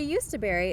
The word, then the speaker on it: Jostaberry: Number 2: Jostaberry The Jostaberry (pronounced as yust-a-berry) is a complex hybrid made by crossing the blackcurrant, with the European gooseberry, and the North American coastal black gooseberry.